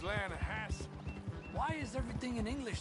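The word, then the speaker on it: Lannahechee: trout you made an Atlanta Hassey River no no no no no no no the Atlanta hedge it runs right near here yeah but it's pronounced Lana has why is everything in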